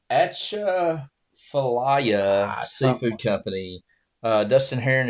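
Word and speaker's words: Atchafalaya: were amazing that place there yes so it's ATA Faya Seafood Company uh Dustin Heron if you watch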